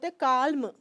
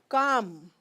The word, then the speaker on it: calm: consonants these are consonants if these consonants are there after letter L we are not going to speak L at all okay students cal cal no calm you will only say calm but the Vel is going to be a long Vel keep keep in mind